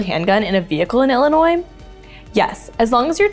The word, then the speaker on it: Illinois: that serve alcohol in Illinois yes but only in bars where less than 50 percent of sales are from alcohol why do people from Illinois get mad when you pronounce the S why it really Illinois